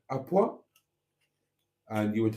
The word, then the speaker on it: à point: that matters when it comes to beef is à point. À point. Point is spelled point, pronounced point.